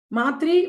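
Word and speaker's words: मातृ: example Sanskrit word called matri matri with a long a matri and the soft tree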